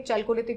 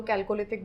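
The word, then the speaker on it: Chalcolithic: चैल्कोलिथिक बोलो, कैल्कोलिथिक बोलो, what ever you want to pronounce it.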